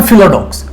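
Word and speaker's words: philodox: इसको बोल देते हैं, जब ये वर्ड में अटैच होता है तो इसको फाइलो नहीं फिलो ही हम फिर जो है इसको प्रोनाउंस करते टाइम फिलो ही हम इसको बोलेंगे। सो ये बना फिलोडॉक्स।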